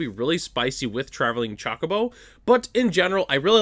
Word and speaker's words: Chocobo: Saz Coco or sorry, Chocobo. I always thought it was Coco.